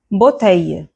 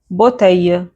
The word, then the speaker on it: bouteille: In many cases or in most cases, it's actually not pronounced, the L will not be pronounced. So, let's see examples. famille bouteille oreille famille bouteille oreille However, there are